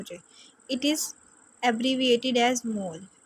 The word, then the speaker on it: mol: इट is abbreviated as मोल, मतलब इसको हम किस तरह से प्रोनाउंस करते हैं? मोल से, MOL मोल। ठीक है, अगर हमने इसको लिखना है तो MOL मोल लिखना है।